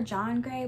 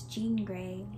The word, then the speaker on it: Jean Grey: Also, in my last video, I kept calling her John Grey, but I think it's Jean Grey. I took French class, so in my mind, I pronounced that as Jean, not Jean.